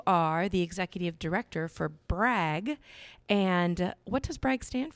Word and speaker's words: BRAG: syllables you really want to stick to one syllable and just say it you know brag yeah for sure for sure yes well we're